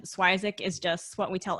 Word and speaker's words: Swyszcz: even with the pronunciation schweizak is just what we tell everybody so i i tell people think swissack like isaac but if we want